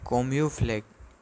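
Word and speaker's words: camouflage: तो इसे हम अ सॉर्ट ऑफ उसका प्रोनाउंसिएशन है कोम्यूफ्लेग या फिर छिप जाना। इसका प्रोनाउंसिएशन होता है कोम्यूफ्लेग।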